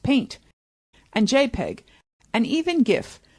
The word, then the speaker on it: PNG: big ones of course there is the PNG pronounced paint and JPEG and even GIF we do for